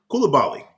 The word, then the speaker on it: Coulibaly: Is that how you pronounce that name? Coulibaly.